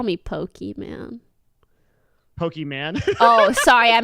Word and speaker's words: Pokimane: your name until like I don't think I pronounce it this morning call me pokey man Pokey man oh sorry I meant Pokey comma